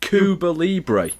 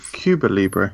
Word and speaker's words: Cuba Libre: You said Kuba Libre. Oh, come on, mate. Cuba Libre. It's cute. Cuba Libre.